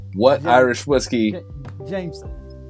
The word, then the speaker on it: Jameson: o what Irish whiskey Jameson not Jam meron Jameson Jameson what spell it j a m e s o n where's the r where's I didn't say an R I said J was was Jamon Jameson I'm drinking Jameson God